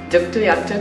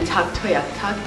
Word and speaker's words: Tuktoyaktuk: t is T toak Tu and du toak duk toak is how we pronounce it in my native tongue and Tu toak is how you pronounce it in the local